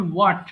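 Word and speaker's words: what: এবং শুরুতে double you এর পরে এইচ এর উচ্চারণটা হবে না। যেমন হোয়াট মানে কি, হোয়াট ইজ ইউর নেম। এখানে হোয়াট ইজ ইউর নেম বললে কিন্তু বিষয়টা ভুল হয়। সঠিক উচ্চারণ হবে হোয়াট।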